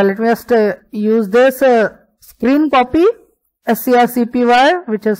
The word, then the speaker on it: scrcpy: camera, that's why let me just use this screen copy, SCRCPY, which is spelled as screen copy, or okay, it is over here, and let me quickly unlock my device.